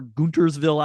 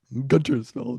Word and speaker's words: Guntersville: Let's write the script for the movie that isn't popular enough for Guntersville, Alabama. I mean, it's popular enough. Just the weather does not work for it. All right, fine. Guntersville, not Guntersville.